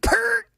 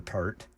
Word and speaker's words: Peart: I remember Peart. Neil. Oh, come on. That's not actually how it's pronounced. Peart.